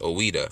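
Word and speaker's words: Ouidah: judah is an angelicized form of ex the pronounced oweda from the europe language of benin yoroba language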